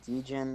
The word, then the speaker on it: Djinn: It's Jinn, also Okay. romanticized as Djinn or Genie. Those are the three names for it. It's still just pronounced Jin with the D there. The D's silent.